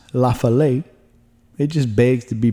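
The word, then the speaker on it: Lafayette: Lafallet, Tennessee, which I think should be pronounced Lafale. It just begs to be pronounced that way, but they say Lafallet, and that's okay.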